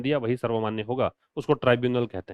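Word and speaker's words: tribunal: First by the foreigners, है ना, ट्रिब्यूनल इन असम। तो फर्स्ट, पहली बार, बाय द फॉरेनर्स ट्रिब्यूनल, ये विदेशी मामलों का एक न्यायालय है। ट्राइब्यूनल जो होता है, ये इसको प्रोनाउंसिएशन ट्राइब्यूनल है, और ये एक प्रकार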